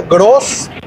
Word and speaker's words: Groß: Entonces se agrega esta palabra Groß, que se escribe G-R-O, y esta letra que parece una B grande, pero se llama E-Z. E-Z, que se pronuncia como doble S, S-S.